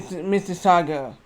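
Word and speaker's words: Mississauga: Mrs. Saga. It's how you spell it is M I S I S S A U G A.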